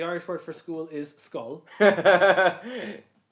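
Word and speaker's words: Schull: Um, that's most likely pronounced skull. Skull. Okay. As in an actual skull.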